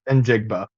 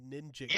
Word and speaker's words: Njigba: I thought it was Jackson Smith Ninjigba. Either way, But you're right, because there is an N there. But I swear I never hear it pronounced. I just hear it as Njigba.